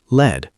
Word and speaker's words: lead: Lead, metal, pronounced lead. Short E.